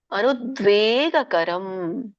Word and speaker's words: ಅನುದ್ವೇಗಕರಂ: ಉಚ್ಚತೆ ಇದರ ಒಂದು ಉಚ್ಚಾರಣೆ ಅನುದ್ವೇಗಕರಂ ಅನುದ್ವೇಗ ಕರಂ ದ್ವೇ ದೀರ್ಘ ಇದೆ ಅನುದ್ವೇಗಕರಂ ವಾಕ್ಯಂ ಸತ್ಯಂ ಪ್ರಿಯತಂ